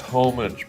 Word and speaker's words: homage: It's pronounced homage, by the way.